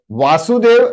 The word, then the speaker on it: वसुदेव: इट is something like वासुदेव एंड वसुदेव, खाली एक मात्रा का फर्क है, ओनली वन, वा और व।